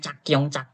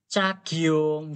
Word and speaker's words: 작용: Kok malah bacanya cakyong bacanya. 작용. Bacanya gimana? Gini. Ca. G-nya ini ikut ke kanan. Giung. Gini bacanya. Cagyong. Gini bacanya.